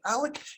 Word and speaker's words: Oleg: a guy named uh alec in english it's spelled o-l-e-g in america's words francis oleg russian pronunciation is something like alec anyway alec moved the